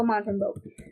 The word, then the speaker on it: Montembeault: I have no clue as to Montembeault. We're gonna say Mount, and then hopefully it's Mont. English is spelled Mont. It's not even Mount. It's Mont. Montembeault.